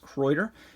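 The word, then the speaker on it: Kraeuter: and people love croiter i always have a tendency to want to call them crowder but they're i believe it's pronounced croiter and this is just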